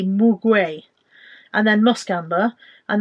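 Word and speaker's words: muguet: And then the gold one is grapefruit mandarin, ylang mugwai. I don't even know if I'm pronouncing that correctly. M-U-G-U-E-T, mugwai.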